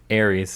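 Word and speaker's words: Ares: It's not spelled like Aries. It's spelled like Aries. Well, Aries, like the zodiac sign, is spelled A-R-I-E-S, not A-R-E-S.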